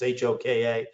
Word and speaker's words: Hoka: like han or or hoka i always pronounce it wrong it's hoka but there are other